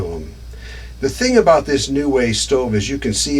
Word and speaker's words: NuWay: lagging's not too bad this is called a new way stove and this is what i've got installed